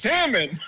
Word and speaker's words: salmon: say salmon it's pronounced salmon I you don't pronounce the L no the L I